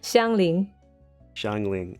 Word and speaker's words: Xiangling: Shall I tell you how to pronounce the last one? Please do. Xiangling.